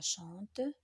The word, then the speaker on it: chantent: Donc, le N, T, ce sont des lettres muettes.